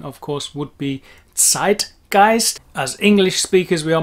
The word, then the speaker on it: Zeitgeist: of course would be zeitgeist as english speakers we are mainly not aware that the german zed has its very own particular sound which is like pronouncing a t s but at the front